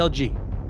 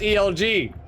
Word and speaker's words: Elg: He says it's not pronounced. It's not pronounced. It's not pronounced ELG. All right, it's pronounced Elg. Elg. He said it's Elg Manuel.